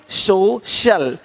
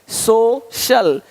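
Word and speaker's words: social: अब देखो, यदि सी के आगे आई ए हो तो सी का उच्चारण श होता है। क्या होता है? श होता है। क्या लिखा हमने? सोशल, सोशल, सोशल।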